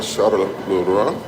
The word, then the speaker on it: Charleroi: I'm in Charleroi. I pronounced it well.